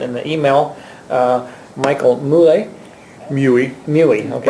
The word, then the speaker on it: Muehle: Muehle, okay. Rhymes with Huey and Dewey.